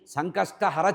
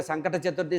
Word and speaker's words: సంకష్టహర: తీరడానికి ఉండేటువంటి ఈ చతుర్థిని సంకష్ట హర చతుర్థి అంటారు మనవాళ్ళు తెలియక సంకట చతుర్థి సంకట చతుర్థి అంటారు అంటే సంకటాలు రావడానికి కోరుకున్న చతుర్థి లాగా ఉంటుంది మన ఉచ్చారణే తప్పు సంకష్ట హర కష్టాల్ని హరించాలి అని చెప్పాలట సంకష్టహర చతుర్థి దీనివల్ల సంతానం కావాలన్నవాళ్ళ సంకట సంతానము